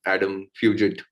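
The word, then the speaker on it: Fugitt: I actually thought he would finish it off much quicker, but I was impressed by the new guy as well, Adam Fugit, as his name is pronounced.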